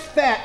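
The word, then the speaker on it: phat: an Old English term the teenagers have a word called p-h-a-t it's pronounced fat but that means it's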